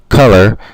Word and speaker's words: color: So in English, color, that first O is more or less a lazy O that sounds like a U, a short U.